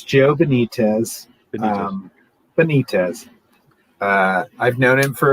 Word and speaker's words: Benitez: just knew him uh it's joe benitez um benitez uh i've known him for about 20 years